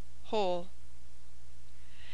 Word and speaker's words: whole: U French o u in the following words W is silent who whom who oo hoop whole H after R has